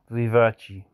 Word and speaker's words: vivace: going through it again vivace vivaci is the correct way to say it what about perfect year